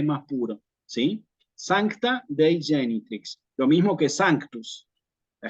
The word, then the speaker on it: genitrix: Solamente la G con la I y la G con A. Entonces aquí nos va a quedar genitrix, ¿sí?